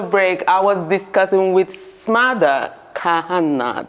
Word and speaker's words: Smadar Kahana: i was discussing with smother kahanna that's how to pronounce your name right very good yeah no it's not